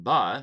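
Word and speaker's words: בְּ: against everyone the um Hebrew preposition ba like just be with a short e sound can mean a lot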